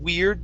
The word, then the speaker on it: weird: and and make sure when you're pronouncing weird that it's a instead of weird it's ear weir like your ear okay um the other